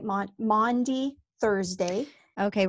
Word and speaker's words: Maundy: think it was just my mom mispronouncing mande because she would say my mom would say Monday like she'd say well Monday I was doing this and so